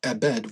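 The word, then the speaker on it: עֶבֶד: If you are to read this word within the text, it would be pronounced with a V. The reason I say it abed with a B is because of the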